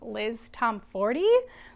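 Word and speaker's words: Liz Tomforde: I'm really enjoying her writing, and I think I've recently learned that her name's actually pronounced Liz Tom Ford, which I did not know, so I will begin to pronounce it that way going forward.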